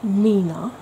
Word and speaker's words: 3INA: It's 3INA, pronounced Nina.